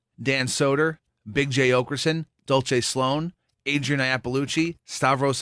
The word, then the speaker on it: Dulce: because I've been saying Dolce Sloan she pronounces it Dulce like the Spanish way I've been saying an Italian way like you Chris quite